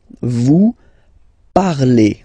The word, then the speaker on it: vous parlez: Let's see now for vous, vous parlez, okay? Remember, z, when you combine them together, you get the sound e. Vous parlez, all right?